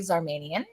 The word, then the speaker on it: Zarmanian: girls girl friend of mine and colleague Z armanian hi did I say it correctly your last